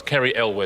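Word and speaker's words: Cary Elwes: good answer and good spelling as well it's kri elw is how you pronounce it that's from Robin Hood Men in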